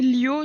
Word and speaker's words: Liu: se dit Lio, ça s'écrit Liu.